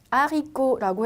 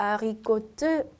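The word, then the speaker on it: haricot: 자, 그렇기 때문에 T라는 거는 끝 자음이라고 하죠. 스펠링은 있지만 발음은 없어요. 그래서 제가 아리꼬트 절대 안 되고 아리꼬.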